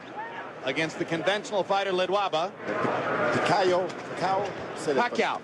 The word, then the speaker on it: Pacquiao: I says, "Bet on Pacquiao, he's 60-1.